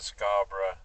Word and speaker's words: Scarborough: I already knew that Scarborough was named, the bluffs at Scarborough. Listen to that pronunciation. Proper. Scarborough.